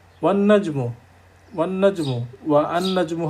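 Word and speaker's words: وَالنَّجْمُ: পরের পয়েন্টটা, both Alif and লাম and alif lam are not pronounced when a word starts with a solar letter and is preceded with another word. যেমন আমরা বলছি ওয়ান নাজমু, ওয়ান নাজমু, অর্থাৎ আলিফ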